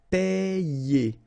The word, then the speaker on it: payer: second E here, and you combine these letters, sorry, and you get the sound IE, okay? Payer, payer.